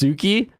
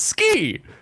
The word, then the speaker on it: Tsuki: Oh, PewDiePie and his wife have that clothing line that's Tsuki. It's like, no, it's ski. The clothing line is ski. It means love and moon. It's not Suki. Why does he always say Tsuki?